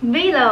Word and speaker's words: VLLO: lot of editing apps and below below i think that's how you pronounce it vlog video works really